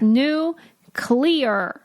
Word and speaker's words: nuclear: is with you people Lincoln always says nuclear and I go that's not a word please it's new clear clear clear that's how you spell